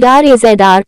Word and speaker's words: Razr: The Motorola Razr, styled RAZR, pronounced pressed like Razr, codenamed Silicone One, is a series of mobile phones by Motorola, part of the 4LTR line.